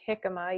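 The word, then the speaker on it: jícama: want to show you a picture of a hikma so it is pronounced hikma even though it has a j let's do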